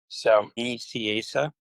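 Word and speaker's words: Nicieza: Just so you know, Fabian's name is pronounced so Asa.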